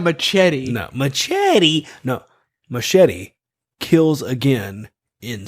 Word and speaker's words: Machete: acclaimed machete movie machete yeah machete machete it's pronounced machete i didn't know spanish i didn't know machete